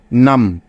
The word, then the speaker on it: numb: এখানে বি এর কোনো উচ্চারণই হবে না, যেহেতু বি এর আগে এম আছে, তাই।